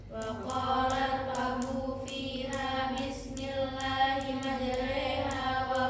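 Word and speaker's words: مجراها: Ada bacaan imalah majreha. Imalah adalah mengirimkan bunyi patah. pada kasrah terdapat di surah Hud ayat 41. Waqfahu fiha bismillahi majraha wa mursaha inabbiurim.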